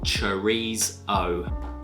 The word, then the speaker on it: chorizo: Correct pronunciation and all, chorizo.